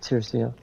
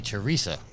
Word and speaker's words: Teresia: have every time I go to say it, I say Teresa, so I say it wrong.